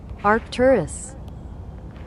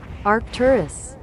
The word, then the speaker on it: Arcturus: And let me get the correct pronunciation of these names. 1 second. Waiting for the screen to load. Arcturus. Arcturus.